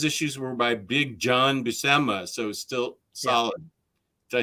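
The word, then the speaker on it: Buscema: 102 but those issues were by Big John busemma so still solid did I say it right busama yeah okay if the 51 is collected in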